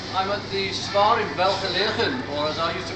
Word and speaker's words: Welgelegen: um I'm at the star in welfare living or as I used to pronounce it well together again when I murdered her idea and I'm with